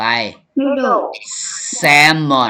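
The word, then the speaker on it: salmon: ต่อ ไป แซมอน แซมอน แซม ครับ ตัว l ตัว l ไม่ ออก เสียง เอา ตัว mท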